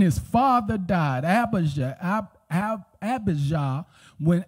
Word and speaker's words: Abijah: father died abasha ab abijah when abba yah that's really how is pronounced in its original language when abijah uh abba